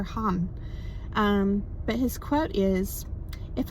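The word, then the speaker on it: Thích Nhất Hạnh: My understanding is that you say it Thich Nhat Ha, right? Or Han.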